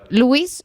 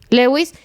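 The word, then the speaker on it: Lewy: Pues dice que fue Robin Williams, padeció demencia con cuerpos de Leis o ¿cómo se pronuncia? Lewis. Sí, Lewis. Así al final de su vida.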